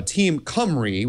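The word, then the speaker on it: Team Cymru: There's a a great security team out there told called, uh, team Camry, that's spelled CM Yru.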